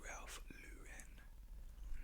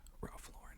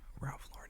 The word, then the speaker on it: Ralph Lauren: not Ralph Lauren, it's Ralph Lauren, and Ralph Lauren is the correct French pronunciation of it, but he's not French, he's American, and even he pronounces his name Ralph Lauren, so I'm like, gosh darn, Ralph Lauren it is.